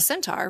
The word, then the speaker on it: centaur: First of all, I didn't know that the Sagittarius, the symbol for Sagittarius, was the centauron. Am I saying that right? CEN. Can you pronounce centaur. it again? Centaur, yeah.